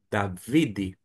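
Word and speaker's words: דוד: Nós temos um D com A, da. Na segunda sílaba, V com I, vi. E termina com um D. Aqui é um D.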